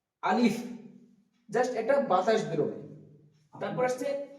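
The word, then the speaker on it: ب: তো বা উচ্চারণ করার সময় এই ঠোঁট দুটো মিলিত হয়ে উচ্চারণ হবে বা, বা।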